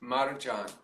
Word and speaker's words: Marjan: Marjan. I know I'm not pronouncing it correctly.